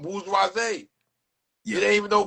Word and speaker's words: bourgeoisie: Bougie is like the ghetto way that we watered down to pronounce it. It's Yeah. really bourgeoisie. Oh, bourgeoisie.